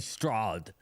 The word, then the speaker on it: Stroud: Yeah, they got, That's not how you pronounce it. It's CJ Stroud.